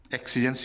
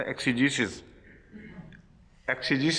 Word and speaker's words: exegesis: the University of Manchester۔ ایکسیجنسز نہیں ہو سکتا، ایکسیجیسس ہی تلفظ ہے۔ کیوں آفتاب خان صاحب؟